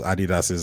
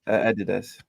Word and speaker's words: Adidas: yeah it's just that Adidas if you look at the words there need to be either two eyes or an accent on the on the D for you to pull it down that's too much doing